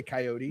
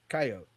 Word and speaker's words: coyote: said K I mean I say coyote but it's coyote I guess the E is silent.